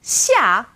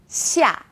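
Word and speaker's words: 下: Now this sound is somewhere in the middle of SH and S.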